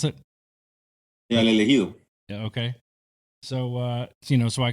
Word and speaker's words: El Elegido: Is you have a book out called Elegido? Is that correct? Is that how you pronounce it? Yeah, El Elegido.